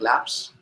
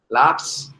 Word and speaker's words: Labs: settings laps laps I I am pronouncing lab like laps wrong right Labs like laboratory experiments and then you will